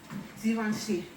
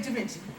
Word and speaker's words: Givenchy: like an S, and it's almost like you're saying the word vision. Okay, so I'm gonna mess this up, but I've been practicing a little bit. Givenchy Dupes.